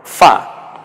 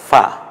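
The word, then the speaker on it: فاء: তাহলে হরফের নাম হবে ফা ফা নিচের ঠোঁটের পেট এবং সামনের দাঁত মিলে উচ্চারণ হবে ফা মাখরাজ নিয়ে আমি এখন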